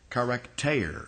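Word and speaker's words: χαρακτήρ: And it's the way you'd say it in Greek is it starts with a key, charakter. It's tau, eta, rho, and you pronounce eta, a, long a, charakter, which in the King James translators translated it express image.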